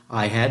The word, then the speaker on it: i-hat: I think technically it's called a caret, C-A-R-E-T, but we pronounce it I hat and j hat.